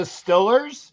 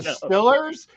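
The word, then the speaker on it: Steelers: the no it's the Stillers it's the Stillers from Western Pennsylvania and the egles in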